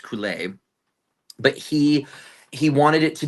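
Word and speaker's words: Coulais: The music is incredible, and the lyrics are gibberish, and they're gibberish on purpose because the composer, Bruno, I believe his last name is pronounced Coulet.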